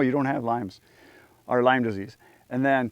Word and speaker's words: Lyme disease: you did correct me, the S is silent. It's not Lyme's, it's Lyme disease.